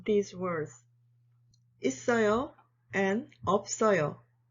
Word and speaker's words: 있어요: 있어요 and 없어요. 있어요 is easy. You just need to apply the linking rule, that's all.